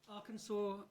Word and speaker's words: Arkansas: The names of 2 US states end in a letter S that is not pronounced as an S. For 10 points. 2018, Whitehorn. Arkansas and Illinois.